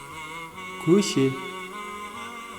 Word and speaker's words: көше: Улица. Көше. Көше. Мягко произносим.